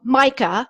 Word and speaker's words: MYCA: place so that we could be scalable so mica that's actually how it's pronounced that's okay it stands for maximizing your company's assets so Micah has been in business for 25 plus years